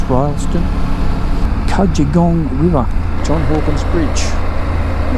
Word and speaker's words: Rylstone: two bumps there you go welcome to royalston Royal Stone pronounce Royston kajegong River John Hawkins Bridge Scenic little Park